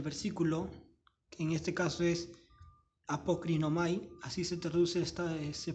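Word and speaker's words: ἀποκρίνομαι: primera palabra del versículo en este caso es apocrinomay así se traduce esta se pronuncia esta palabra griega que se traduce por respondió esta palabra griega respondió es en griego es apocrinomay apocrino May Ok entonces esta primera palabra apocrinomae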